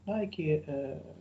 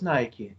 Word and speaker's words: Nike: Nike, maybe it sounds a little bit strange for you, but it is the name of the sports equipment firm. You have to pronounce it not Nike, but Nike. Okay, so where is Nike?